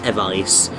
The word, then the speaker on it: Evice: I pronounce it Evis rather than Evice, but it doesn't really matter.